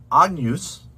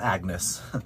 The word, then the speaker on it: Agnus: like agnes um and you could say ag noose with a hard gu um but that gn actually is its own sound it's more like a yeah um like yeah like that n followed by the letter y so think of